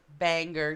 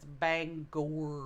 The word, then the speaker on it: Bangor: an eastern Pennsylvania also banger terry bang yeah that's what they lot of people pronounce they try to pronounce bangor as banger banger Maine Bangor Maine is Bangor anger its Bangor Bangor I can be taken